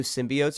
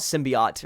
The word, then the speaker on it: symbiote: an appearance okay or they call it symbiot right or something stupid dude I hate yeah the way they pronounce it I think they did say symbiot in the movie like it's always been Symbio are you it's so